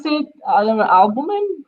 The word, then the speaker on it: albumin: If you are using how do you pronounce it? I don't know, albumin.